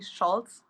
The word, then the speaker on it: Scholz: And how do you say your last name? It's actually Schultz. Um, but it's just it's just German and that's fine.